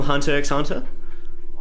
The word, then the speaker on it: Hunter x Hunter: You mean gone from Hunter x Hunter? Actually, the X is silent in Hunter x Hunter.